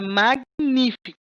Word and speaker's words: magnífico: Observe a palavra magnífico. Magnífico. O G é mudo, certo?